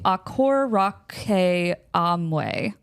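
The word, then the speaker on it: Akkorokamui: it at least but it's called the aor Amway aor Amway aor Amway very long and um yeah so it is spelled this way AK k k o r o k a m u i but it is not pronounced that way so aor Raa but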